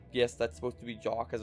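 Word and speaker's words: Jacques: I've realized it's now called I've realized it's pronounced not jacooz I still like saying jakku snow but yes that's supposed to be JA cuz it's a jack-in-the-box and gymnastics elf we also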